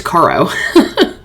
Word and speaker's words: Caro: okay Ben Cara hello I think said Cara it's Caro when I said that really fast I said it wrong holy crap OMG suddenly